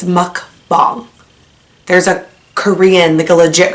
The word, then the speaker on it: mukbang: it's not mukbang and it's not mukbang it's like a hybrid it's muck bomb there's a Korean Nicola